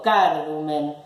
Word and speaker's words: cardumen: No digo cardumen ni cardumen. Digo cardumen. Penúltima sílaba es grave, ¿sí?